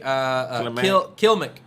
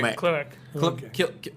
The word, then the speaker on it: Klimek: All right, here's a question from Gary Kilmick. Did I say it right, Gary? Klimek. Whatever. Klimek.